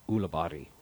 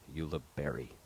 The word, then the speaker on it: Ulibarri: For instance, folks, viewers interested, Paul's last name, if we were in Spain, would be pronounced Ulibarri. And be it that we are in America, the English pronunciation, Ulibarri.